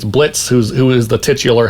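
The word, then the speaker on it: Blitzø: Imp crew it's it's Blitz who's who is the titular hell of a Boss Blitz the O is silent he used to be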